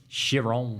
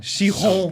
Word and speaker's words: Chiron: Chiron. Chiron. Good. That was Thank you. good pronunciation.